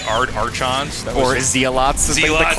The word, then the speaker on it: Zealot: It's not Zealot, it's Zealot.